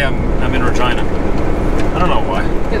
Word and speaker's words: Regina: me funny when i say i'm i'm in regina i don't know why they look at you